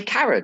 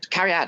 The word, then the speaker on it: Carrie Ann: So I don't say her name properly. Yeah, I was you said it wrong the first time. I got you. The second time I was like, who's Karen? Oh yeah, Carrie Ann.